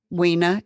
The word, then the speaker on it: Wena: Wina is actually pronounced wina. Wena, which is beautiful, but you southerned it up.